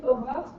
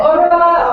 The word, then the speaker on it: Aurore: My name is Aurore. If you cannot pronounce it, no worry, it's super difficult for non-French speakers to say it. So, Oh! Yeah, Aurora, or Aurora, whatever. Aurora is fine.